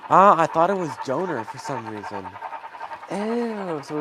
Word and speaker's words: Donner: Am I saying it wrong? Doner or like doner? I'm pretty sure it's donor or is it doner? Oh. Oh. So, it's Donner. Okay. Donner pass. Okay. Donner.